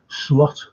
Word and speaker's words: Slot: That's why Slot, or Sloot, how you should pronounce him, he dropped him.